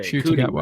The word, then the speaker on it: Ncuti Gatwa: Ncuti Gatwa.